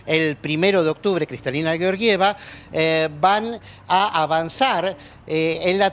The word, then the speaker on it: Georgieva: el equipo de kristalina georgieva así se pronuncia me insistieron no digamos yo lleva